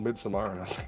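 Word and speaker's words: Midsommar: being uh you need to understand it it's pronounced mid-samar yeah mid-samara okay is it really mid tomorrow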